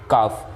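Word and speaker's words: calf: काफ, इसमें L silent है।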